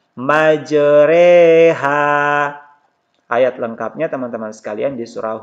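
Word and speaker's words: مجراها: ini tetap dibaca tarqiq jadi tulisannya ini majroha ini cara membacanya meijer Eha ayat lengkapnya teman-teman sekalian disuruh hud ayat 41 Hai waqolarkabu movie HD bismilahi majreha wa mursaha inna Robbi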